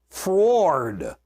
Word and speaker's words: froward: Think of fro as to and fro. Ah. We go to and fro. Okay, so the opposite of froward is toward. We normally would pronounce it toward. Toward, froward. How's that?